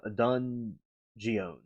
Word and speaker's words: Dungeness: You see because I'm pronouncing it wrong. So, it's Dungeness crabs. No dungeon. Dungeness.